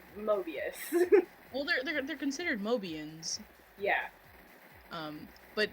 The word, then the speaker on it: Mobius: to like spell that I thought it was Noah bus at first but it's Mobius older considered mobians yeah